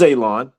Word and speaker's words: Alon: My name is Alon, pronounced like you're gonna cut grass, like you're gonna cut a lawn. It's not spelt that way, but it is pronounced that way.